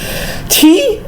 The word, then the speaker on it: qi: Qi, tulisannya QI ya, bacanya qi, berasal dari kata qi.